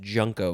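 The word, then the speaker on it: junco: dark-eyed junko and yes i did go to the jays to confirm that it is pronounced junko because it doesn't tell me here dark-eyed is two words with a hyphen and then the third word is junko j-u-n-c-o noun from 1974.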